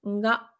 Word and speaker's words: が: En fait, le prononcer purement ga, donc comme, une gare en français, c'est pas une erreur